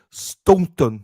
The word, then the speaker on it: Stoughton: So don't pronounce your T's. So Stoughton. Stoughton. Stoughton. Don't pronounce the second T.